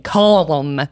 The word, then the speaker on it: calm: that she was saying calm. You don't pronounce the L. It's called calm for a reason.